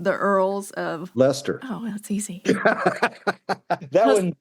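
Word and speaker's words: Leicester: I knew the British pronunciation.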